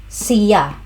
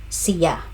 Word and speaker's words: siya: Pronunciation cya. It's on the second syllable. Sea.